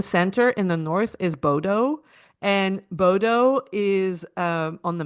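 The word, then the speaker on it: Bodø: Plane from Montreal to Munich, Munich to Oslo, and then from Oslo, a smaller plane to Bodo, I think they pronounce it.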